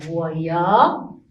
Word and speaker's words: voyageur: Ici, la lettre G, on le prononce, ou bien on la prononce ici, G. Pourquoi? Parce que il est écrit à côté de E. Toujours quand on a la lettre G à côté ou bien avec E, ou bien avec I, on la prononce G. On dit J et je. Donc ici, voyageur.